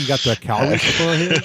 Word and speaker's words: Calgary: How you looks like you got the Calgary stuff on here? That was pretty good, but less accent on the A.